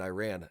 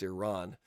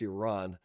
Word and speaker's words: Iran: Whatever reason, I made a habit of saying Iran, it's Iran. I got to say it right. I don't want to say it wrong, especially if I'm going to be speaking like this. Um, so I'm going to try to do better. I just caught myself. It's Iran, not Iran.